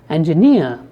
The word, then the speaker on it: engineer: first syllable is stressed if you take a word like specific the second syllable is stressed if you take a word like engineer then the third syllable